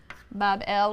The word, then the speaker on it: Babylon: him a magnificent shrine or temple in Babylon pronounced Bob L which simply be a gateway of the god